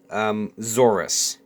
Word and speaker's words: Zorus: When I first made these guys, their names are pronounced Zorus. Okay, the plural is Zoruses, but it's stupid.